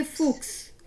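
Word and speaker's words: Fuchs: जैसे फुक्स, फुक्स होता है लुमड़ी, जैक्स होता है छे, तो ये फुक्स है, इक्स यानी कि इक्स की साउंड दे रहा, काफ की थोड़ा सा आ रहा है, फुक्स, जैक्स।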